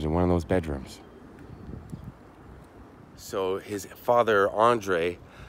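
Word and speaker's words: Andrej: bedrooms so his father Andre Andres Andre it's hard to pronounce cuz there's a J at the end chose this house they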